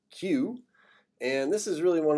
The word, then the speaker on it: Kew: location the royal botanic gardens queue kew pronounced q and this is really